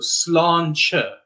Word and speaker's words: sláinte: And of course, now you know why we have the A with the accent, so that gives it the aw sound. And then a T before an E is a slender T, so that's why it's the ch sound. So sláinte, all right?